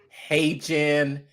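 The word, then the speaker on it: HeyGen: Now you might say hey Jen, it's spelled H E Y Gen. Hey Jen.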